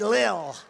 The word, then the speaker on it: Lil: pump L Lil I said how do you pronounce that they said Lil and a great picture for the New York